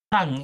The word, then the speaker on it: tongue: So when we say the word tongue we don't pronounce that part of the word which I've just circled.